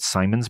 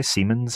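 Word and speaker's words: Siemens: in a partnership with Simons by the way seamons I think is how that's pronounced the you know uh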